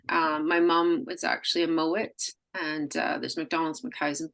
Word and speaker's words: Mowat: It's James Mowat.